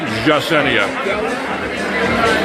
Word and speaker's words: Yesenia: This is my favorite bartender, Yesenia, but if you want to pronounce it right, the Y becomes a soft J, so you may go for the Yesenia.